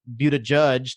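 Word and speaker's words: Buttigieg: presidential candidates sorry like seth moulton and pete but a judge that's how you say his name i learned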